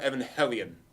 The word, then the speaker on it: Evangelion: I think you call it Evangelion. I think that's the correct pronounced. Evangelion. Hellion. Yes. Evangelion. Ano said in an interview in New Type in 1998 that should be called Evangelion.